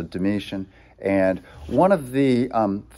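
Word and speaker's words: Domitian: 90s comes the mission it's spelled with a t t i a n is how you end his name so like d-o-m-i like dominoes but then t-i-a-n so dimitian and one of the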